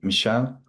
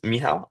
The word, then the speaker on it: Miha: Mi Michelle, hopefully I'm pronouncing your name correctly. Please, please correct me if needed. Sorry, I forgot to unmute myself. Um, uh, my name is Miha.